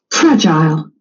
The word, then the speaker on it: fragile: Uh fragile. Fragile. So, the accent is on the first syllable.